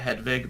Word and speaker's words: Hedwig: we know i think they would they would pronounce it hedvig but well then harry got it wrong so anyway um yeah